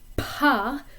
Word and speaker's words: pas: Notice that the S is silent, and another good thing